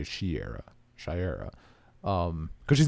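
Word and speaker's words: Shayera: can't I don't want to mispronounce her name what's Haw girl's name Shera Shera I was going to say Shara Shera um because she's not a hot girl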